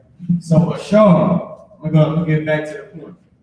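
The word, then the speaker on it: אשר: This is how you pronounce it. Ashar.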